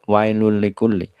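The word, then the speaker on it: وَيْلٌ لِّكُلِّ: artinya kecelakaan wail ya jangan sampai kita membacanya wail ya Wa wailul likulli tapi wailul ya perhatikan lam keduanya dengan ee tasdid ataupun kita lihat setelah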